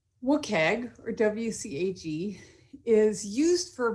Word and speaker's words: WCAG: acronym is a wcag which i say is wicked but i'll say wcag today wookag or wcag is used